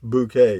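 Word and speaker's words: Bucket: dude on mail call says hyacinth bouquet yeah that's pronounced bouquet yeah yeah that that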